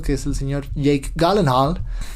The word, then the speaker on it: Gyllenhaal: es el señor Jake Gyllenhaal. Es la pronunciación correcta en sueco, no Gyllenhaal.